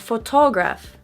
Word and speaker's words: photograph: First of all, in American English, we make a T into a D when it is between two vowels, such as the OTO in photo.